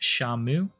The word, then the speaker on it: Shenmue: It's sort of told like this, that these Chinese characters are pronounced Shamu, and that's how Shenmue is written.